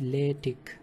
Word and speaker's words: LaTeX: So it is actually pronounced as LaTeX, and it is a document preparation system to produce some professional looking documents.